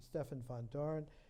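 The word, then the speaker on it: Stefan Vandoren: They took a cue, Gerard de Hooft and Stefan van Doren, the Dutch pronunciation, Stefan van Doren, with a foreword by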